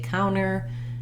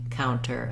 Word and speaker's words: counter: once you say cow the cow syllable is long and the tur syllable is short often when we have